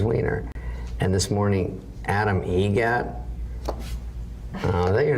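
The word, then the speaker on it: Eget: How do you say the name? Adam Egget. Egget. Spelt differently. Like the bird. That's Egret.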